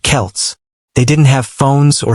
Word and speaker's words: Celts: The people who lived there were called the Celts, pronounced Celts.